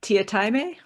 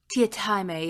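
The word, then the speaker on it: Teatime: a little bit oh he pronounces it uh tiatame tiatame yes yeah i mean i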